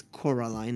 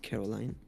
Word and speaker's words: Coraline: If you watch the movie, she would tell you that her name is Coraline and not Caroline.